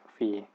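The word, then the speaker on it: phi: ปี นะ แต่ เนี่ย นะ ครับ อ่าน ว่า ฟรี p h i นะ ครับ แต่ ที่ นี้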